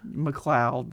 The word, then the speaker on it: McLeod: Gavin McLeod? McLeod. That's how you say it, yes.